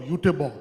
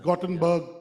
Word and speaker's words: Göteborg: It's called Göteborg. They call it it's Gothenburg, Göteborg, different pronunciation.